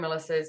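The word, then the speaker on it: Milašas: My father was Lithuanian, and it should have a little umlaut on it, and it actually should be pronounced Milasas, but we took the umlaut out, which means it's Milasas.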